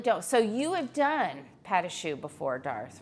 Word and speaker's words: pâte à choux: No, pâte à choux. Robbie's gonna spell it for you.